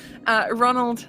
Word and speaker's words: Rzzzozzznald: And so, Jesus, Ronald, the Zed is silent, leads you out of the house, and he sort of starts to spurt you down the streets.